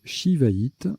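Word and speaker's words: shivaïte: également jouer sii ou c cédille ça se prononce shiva it d'ailleurs soin que c'est la seule ça d'être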